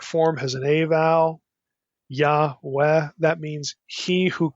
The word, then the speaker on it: Yah: in the Hebrew Bible you have a short form of the Divine name just the first syllable YH and it's always with an a vow yah always so yah we instead of Y